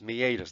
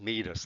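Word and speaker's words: meatus: going to be and that's pronounced me a does not meet us let's meet us here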